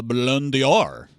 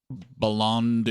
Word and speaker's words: Ballon d'Or: He's also now a strong consideration for the Ballon d'Or.